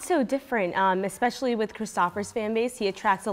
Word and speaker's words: Christopher: So it's not Christopher, it's Christopher. Christopher, yeah. The Danes pronounce it as Christopher.